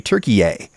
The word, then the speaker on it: Türkiye: Do actual Turkish people want people like me to actually call their country Türkiye?